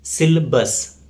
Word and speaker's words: syllabus: It's often mispronounced as syllabus. So there is no A sound after L, right? The correct pronunciation is syllabus.